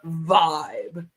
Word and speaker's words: VYB: the newest scam the vibe scam it's VB and it's supposed to be pronounced as Vibe this is their newest